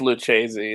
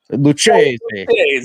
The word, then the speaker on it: Lucchesi: I don't know how you say his name, but I think it's Lucchesi. Okay. But you got to say really Italian. Lucchesi.